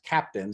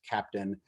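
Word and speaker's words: Keptn: about is an open source project which is pronounced captain so it's ke PTN but it's pronounced captain which is a platform in which we've implemented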